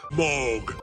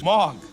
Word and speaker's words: Moog: And yes, it is pronounced Moog. Although I do somewhat prefer the original German pronunciation, which is Moog.